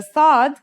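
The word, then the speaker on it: صاد: The sod is basically the strong version of the scene we learned in the last lesson and it kind of sounds like the s in the word saw. This sound is pronounced with your throat constricted.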